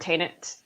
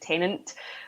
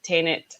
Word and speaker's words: Tenet: know where the word Tenet came from, because for the first 6 months of seeing the trailers, I kept mispronouncing it and calling it Tenant, which was obviously it's